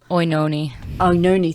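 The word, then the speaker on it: Oenone: of Paris's wife, whose name I just cannot pronounce. Onoi, maybe? Oinoni, thank you.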